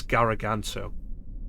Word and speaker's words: Gargant: Robin Atkin Downs, says Garaganto. So it's like, yeah, apparently it's spelled Gargant, but it's pronounced Garaganto.